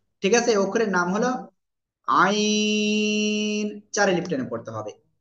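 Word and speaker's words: ع: আছে অক্ষরের নাম হলো আইন চারি লিফট টেনে পড়তে হবে ওকে তাহলে এই অক্ষরটা কি হবে গলাটা চেপে চার লিপ টেনে আমরা উচ্চারণ করবো কোন বাতাস বের করা লাগবে না এটাই আইন আইন সবাই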